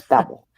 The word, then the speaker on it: Babel: And babelfish or I always want to say Babel. babelfish. It's Babel. It is babel.